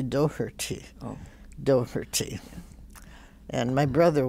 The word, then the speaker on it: Doherty: She still, when she greets me, she'll say, "Hi, Doherty," and she tries to pronounce it like I never. I just said Doherty, mm-hmm. you know. But it is supposed to be Doherty, oh.